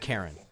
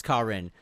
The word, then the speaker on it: Karin: do you pronounce it I think it is Karin it's not Karen it's kin he uh ex or